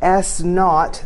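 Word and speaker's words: S₀: So if an object's thrown straight up or straight down from an initial height of, we'll call that S naught, that's how that's pronounced, S naught feet, with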